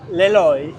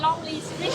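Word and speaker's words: Lê Lợi: Bring in Le Loi. A foreigner always say Lonely Street. If you say it wrong, it means lonely street.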